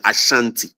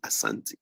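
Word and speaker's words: Asante: well but pronounce it Ashanti but we don't say Ashanti we say Asanti so there is a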